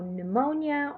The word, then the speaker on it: pneumonia: A PN at the beginning of a word, you only pronounce it as an N, so pneumonia or pneumogram.